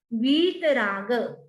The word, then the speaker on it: वीतराग: लुप्तच्छदच्छवि लुप्तच्छदच्छवि रसोक तरूर बभूव सानिध्यतोऽपि सानिध्यतोऽपि यदि वा तव वीतराग, दीर्घ है, लंबी ई है, वीतराग निरागतां, नी भी लंबी